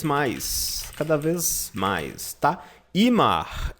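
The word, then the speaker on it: immer: cada vez mais tá Imar em alemão se pronuncia como se fosse um imã de geladeira em Mar significa sempre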